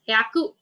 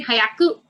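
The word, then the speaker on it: 百: Hyaku. Yeah. Hyaku. Yeah. See, Japanese, one can understand like that, but the correct pronunciation is also very important. Like you say, hayaku.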